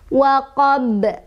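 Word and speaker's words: وَقَبْ: Ba-nya kan tadinya harokatnya fathah, ketika berhenti dia jadi sukun. Makanya dibacanya dipantulkan dan pantulannya besar, qubro ya.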